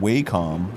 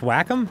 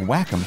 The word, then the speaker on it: Wacom: And I used to call it Wacom for the longest time until I needed a part. Oh, I've seen that. That's pronounced Wacom?